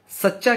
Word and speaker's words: सच्चा: तो सच, हम सच्चा जब बोलते हैं तो पहले सच बोलते हैं, चा आधा रहता है, तो मतलब आधा चा हम सा के साथ मिलाकर बोलते हैं, सच चा, सच चा।